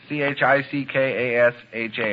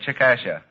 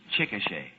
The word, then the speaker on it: Chickasha: in oklahoma and i'm sure i must have mispronounced it and i know you can help me out what'd you say c-h-i-c-k-a-s-h-a i said chikasha oh mr mcnair that is not right i